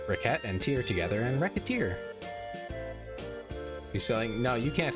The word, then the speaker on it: Recettear: Mispronounce it even slightly, and yeah, it's Recettear. That's the joke.